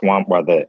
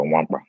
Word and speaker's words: Nwankpa: It's pronounced Nwankpa. The K and the N are silent, so Nwankpa. Nwankpa?